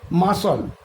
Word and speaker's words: muscle: কীরকম ধরো মাসল, মাসল বানামটা কি MUSCLE, মাসল, কিন্তু এখানে দেখো সি এর উচ্চারণটা কিন্তু হচ্ছে না, মাসল মানে মাংসপেশি।